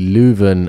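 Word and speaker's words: Leuven: seminar in June uh it's actually lven and it's in June and apparently I've been pronouncing it very well lven there you go get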